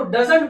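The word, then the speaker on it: doesn't: उसी तरह से डू नॉट अगर लगा देते हैं तो इसको डोंट पढ़ा जाता है और डस प्लस नॉट लिखा जाता है तो डजंट पढ़ते हैं। डजंट।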